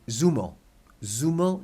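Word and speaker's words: zumo: Mexico or South America it would actually be theta because it's a thirst sound actually that in Spanish but in Mexico it would be as so an example would be if we were talking about juice as in orange juice the word is Z u m-z Jiu mo and in Mexico they'd say zuma-zuma de naranja orange juice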